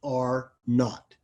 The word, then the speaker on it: R naught: capital r with a subscript zero but it's pronounced are not and the definition is how many new persons